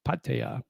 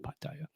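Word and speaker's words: Pattaya: Patea. Yep. That's how I pronounce it.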